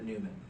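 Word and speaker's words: Numen: And so The it's Newman? Newman from Seinfeld. What? Yeah. It's spelled Newman.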